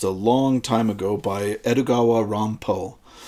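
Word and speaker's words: Edogawa Rampo: And uh if that sounded like I just kind of said Edgar Allan Poe, uh that is because this writer named himself after the Japanese pronunciation of Edgar Alan Poe, Edugawa Dampo.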